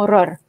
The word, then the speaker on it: ROR: conocido como héroe rey y lo que se pronuncia como horror como dice el león